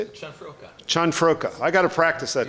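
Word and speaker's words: Cianfrocca: Chanfroka. I got to practice that because we have a thing tomorrow morning. You had it a minute ago. That's Chanfroka.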